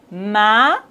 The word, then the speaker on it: maïs: Donc, on doit prononcer le A et le I séparément. Maïs, maïs. Mais, maïs.